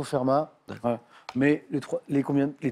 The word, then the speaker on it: Fermat: Donc on prononce le T, je ne savais pas. Fermat, plutôt? Je le prononce, mais je ne sais pas s'il se prononce. Bon, on me dit que c'est plutôt Fermat.